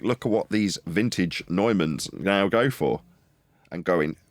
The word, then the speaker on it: Neumann: I re-listened to that video and George Harrison does pronounce it like you. What, Neumann? Yes, I was pronouncing it wrong. I was pronouncing it the way it's spelled. We say Newman here.